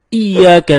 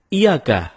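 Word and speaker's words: إِيَّاكَ: temen-temen ketika kita membaca iyyaka nabudu wa iyyaka nasta'in ada yang membacanya dengan iyakah tidak menekan huruf ia seperti seperti sebagaimana kita jelaskan tadi bahwa penekanan itu dapat merubah makna kalau kita baca iyakanakbudu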